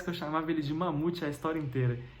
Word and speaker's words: Mahmoud: Mas eu confesso que eu chamava ele de Mamute a história inteira. Eu não sei se esse H tem som de R ou se esse H é mudo, mas eu chamava ele de Mamute.